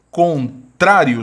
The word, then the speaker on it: contrário: Quando a gente faz a divisão silábica, contrário, sílaba tônica é a penúltima, destaquei em azul, e a palavra termina em um ditongo crescente, olha, semivogal mais vogal.